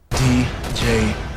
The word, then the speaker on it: Django: Here's Frank with a review of Quentin Tarantino's Django Unchained, with a silent D. Hi. D-J-A-N-G-O. The D is silent.